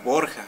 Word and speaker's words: Borgia: césar borgia acuérdense de los famosos borgia o borja algunos pronuncian así que césar borgia pues